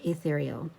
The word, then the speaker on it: Ethereal: It's got the 8 there, but it is pronounced Ethereal.